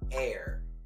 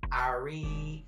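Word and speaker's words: Aire: there's she's a cutie his name is air not Arie not Aries air a i r but it's spelled a-i-r-e congratulations Kylie that we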